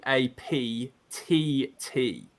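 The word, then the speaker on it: ADAPTT: stand for now that's a Dap TT so you pronounce it adapt but it's got two T's at the end guys okay a d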